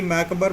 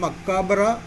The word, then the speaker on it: macabre: कई मैकबर बोलते हैं, कई मक्काबर बोलते हैं, कई जगह में मक्काबरा प्रोनाउंसिएशन है, हमें तो पढ़ना है मक्काबर।